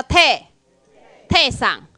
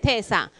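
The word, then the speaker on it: 丁さん: 哈，来，姓丁的就叫泰桑，哈，泰桑。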